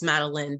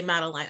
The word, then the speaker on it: Madeline: It is, it's Madeline, but the way it's spelled, people say Madeline. I answer to both, so thank you, no worries.